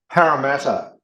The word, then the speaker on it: Parramatta: For instance, if I were to ask every player on Penrith, did I pronounce that okay? Yes. What was the other one? Parramatta.